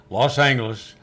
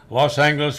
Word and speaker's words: Los Angeles: Even years later, when I worked there myself, that clock still said Los Angeles with a hard G on the clock, so you'd be sure to say it the right way.